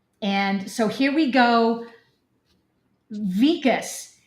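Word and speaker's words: Wikus: Vicas. It's spelled with a W. So, I keep wanting to say his name is Weakas, but it's pronounced Vicas.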